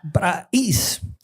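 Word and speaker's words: πραεῖς: Y llegamos a la palabra praís. Se escribe praeis, pero se pronuncia praís.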